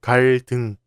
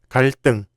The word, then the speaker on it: 갈등: And this word is not pronounced as 갈등, but 갈등.